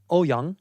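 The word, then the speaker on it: Ouyang: it it was terrible how do you say it properly uh in Mandarin will be oh young oh young yeah so so I'm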